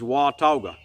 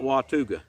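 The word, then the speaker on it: Watauga: can't get pronunciations right that is the correct pronunciation is Wata not watuga I used to go to appstate graduated from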